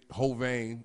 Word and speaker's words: Hovain: section, and motherfucking say Hovain, you know what I mean? You know how to spell it. It's H-O, ho, then vein. Like, you know what I'm saying? Hovain.